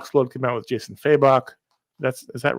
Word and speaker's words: Fabok: This past week, Josh's Talk Explode came out with Jason Fabok. Is that right? That's not right. Was it? How do you say his How does he last pronounce name, that, Josh? Fabok.